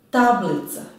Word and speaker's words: tablica: Tablica, tablica, tablica, tablica. Tako je, naglašen je prvi slog.